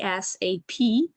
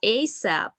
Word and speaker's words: ASAP: interesting word that uh could be pronounced pronounced in two options so uh as it is spelled like a asap or just asap and that's all true it's about phonetics right